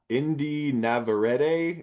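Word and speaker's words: Indy Navarrete: Uh Indi Navarrete is I think how you pronounce her name, who plays Nikki.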